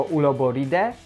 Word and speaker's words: Uloboridae: chodzi o to, że AE, OE czytamy jako E, czyli nie Uloboridae, tylko Uloboride.